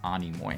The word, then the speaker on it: Animo: going into storm fronts not anoi I like anoi more it sounds kind of like a nemone but I am completely wrong uh that one's Animo so that there you